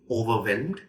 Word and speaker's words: overwhelmed: say it with me overwhelmed overwhelmed the third syllable is where the stresses overwhelmed right something that is